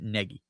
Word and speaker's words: Nagy: It's pronounced like it rhymes with the name Peggy for a girl. It's Matt Nagy.